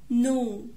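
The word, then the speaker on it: know: no no يعرف، الكي هنا silent. new new.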